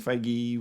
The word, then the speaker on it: Feige: bit uh handwavy but uh apparently recently Kev feige was that's how you say his name uh